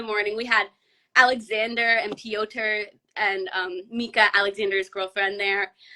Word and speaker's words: Piotr: And speaking of Piotr, because I always say his name wrong, but I'm so glad you said it because it's Piotr.